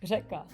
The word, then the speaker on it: řeka: Yeah, we because in Czech we do have like one letter, it's ž, and it's not like R, but it's kind of like R with like your tongue is like vibrating, so it's ž, and even some Czech people have like problem with pronouncing that.